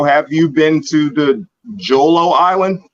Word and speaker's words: Jolo: So, have you been to the Jolo Island? Am I saying it correctly? Holo. It's called Holo.